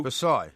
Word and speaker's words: Versailles: Versailles? Yeah, Versailles-inspired... The S is silent.